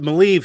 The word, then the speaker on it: Maleev: that Maleev, thank you. That's how it's Maleev.